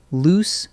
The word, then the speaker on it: loose: Next, loose versus lose, the classic spelling trap. Loose, with 2 O's, means not tightly attached. A loose board creaked under my foot. It rhymes with goose.